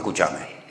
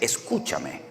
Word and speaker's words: escúchame: Si nosotros los españoles no decimos escuchame. En español no existe el escúchame, es escúchame o escuchadme.